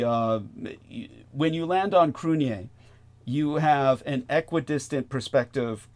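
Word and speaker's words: Cruithne: Earth which is Cru crun it's named after uh the Irish um uh an ancient Irish God uh and so crun is spelled like very Celtic you can't pronounce it the way it's spelled it's c r UI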